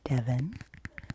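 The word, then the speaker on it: Devan: And my name is Devin. I spell it D-E-V-A-N.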